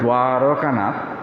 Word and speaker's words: দ্বারকানাথ: ছেলের নাম যে ছিল দ্বারকানাথ, দৈবত উচ্চারণ হয় দ্বারকানাথ, তো আদর করে ঠাকুর তাকে দুয়ারি বলে ডাকতেন, যে তোমার পত্নী এবং দুয়ারি যতদিন থাকবে আমি ততদিন থাকব।